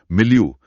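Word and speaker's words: milieu: मिलयू, एम आई एल आई इयू। यह French भाषा से आया है। अंत में आई यू है। उच्चारण स्पेलिंग से काफी अलग लगता है।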